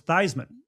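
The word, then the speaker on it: Theismann: sports information director replied, no, there goes Thyman, as in Heisman."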